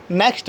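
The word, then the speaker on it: knock: विन थे campaign champion next world ए silent के के साइलेंट कब होता है अगर एंड से पहले अगर कि आता है तो के साइलेंट होता है को हम प्रणव नहीं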